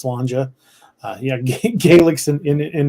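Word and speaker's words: sláinte: cheers in Gaelic is spelled s-l-a-i-n-t-e but it's pronounced slanger uh yeah gaelics in an interesting language but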